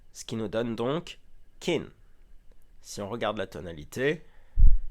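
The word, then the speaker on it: กิน: Et enfin, la consonne initiale est moyenne, ce qui nous donne un ton plat. Et voici comment il se prononce. kin Maintenant, si vous allez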